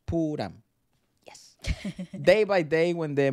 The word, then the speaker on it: Pooram: thrissur every year on the Purim pronounced puram day by day when